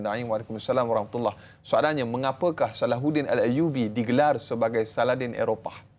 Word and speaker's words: Salahuddin: Sebenarnya perkataan Saladin bahasa Arab, dalam bahasa Arab cara pronunciation nama Salahuddin sebutan ha kan dalam.